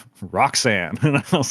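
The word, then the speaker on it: Rhok'zan: convention of just like spelling it weird and pronouncing it like a normal name, which I was like, love that. It's spelled, for those people listening, RHOK apostrophe ZAN, which is pronounced, Roxanne.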